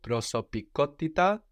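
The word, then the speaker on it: προσωπικότητα: Because we have the accent on the ko, prosopikotita, third from the end, so we come up again to join it all together.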